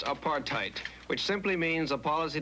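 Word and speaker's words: apartheid: In the Dutch or Africans language of South Africa, there is a word pronounced apartheite, which simply means a policy to keep people of different races apart.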